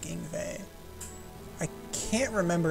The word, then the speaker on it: Ingway: her twin brother and so in way is likely a mistranslation or mislocalization of yngwie um I think in the Japanese they do call him anyway but I think it's pronounced like yngwie I can't remember it's